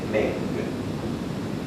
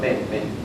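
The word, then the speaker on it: 闷: ejemplo en chino melancolía melancolía se dice meng men Perdón men men y se escribe así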